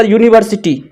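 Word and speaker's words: university: sound ए रहा है अब इसका यूनिवर्सिटी यू से उच्चारण हो रहा है यानी ये वावेल संबंध है ये कॉन्सोनेंट साउंड है तो कॉन्सोनेंट साउंड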